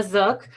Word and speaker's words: Zook: Thank you, Kathy and my name is Zook. And the way I tell people to pronounce my name is that it rhymes with wanna book, and I am the